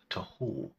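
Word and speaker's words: תהו: the state of Israel today, the word is pronounced tohu, form.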